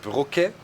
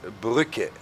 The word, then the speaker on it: Brücke: You know, a normal U is pronounced U in German, and if you have the 2 dots, it's Ü. So it's not Brücke, but Brücke.